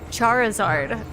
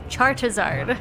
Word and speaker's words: Charizard: It's Charizard. I've been calling him Chartazard. Like that with a T.